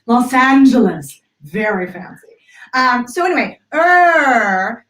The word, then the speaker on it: Los Angeles: Angeles by the way I said Los Angeles with the big open app because otherwise I'd say lost seeing that both Los Angeles right Los Angeles very fancy so anyway